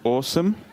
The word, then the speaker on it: Asim: in automatic subtitling and they correctly pronounced about my name at awesome my name is awesome so for the longest